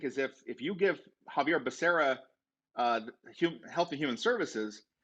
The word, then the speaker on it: Xavier: way you reminded me it's pronounced javier not xavier like charles xavier for example from x-men i think latinos need